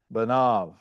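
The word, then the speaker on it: בָּנָיו: The resultant sound is simply that of a long A followed by a V, right? Thus, the word for his sons, right, is pronounced banav, right?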